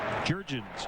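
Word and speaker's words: Jurrjens: Jair, and then Jurgens, just like it's spelled.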